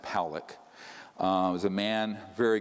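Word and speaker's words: Pawelec: 600,000 views this man William Pock it's pronounced poic uh was a man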